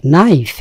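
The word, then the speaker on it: knife: নাইফ, এক্ষেত্রে খেয়াল করবেন এটি কিন্তু একটা সাইলেন্ট ওয়ার্ড, কে এর উচ্চারণ হয় না।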